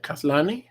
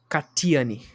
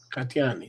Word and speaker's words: Katiane: How do you say that? Kathleen? Katiane. Katiani, thank you.